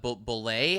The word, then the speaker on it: Bulleit: No, it's Bullet, I think is how you pronounce it.